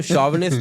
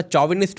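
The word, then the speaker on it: chauvinist: आप देखो ना, वो शॉविनिस्ट तो अब बोलना शुरू किया, पहले तो साला चौविनिस्ट बोल देते।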